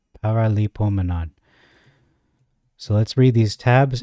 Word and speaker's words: Paraleipomenon: long in Greek it's ancient Greek it is pronounced par Lio Manan paralo Manan so let's read these tabs and understand why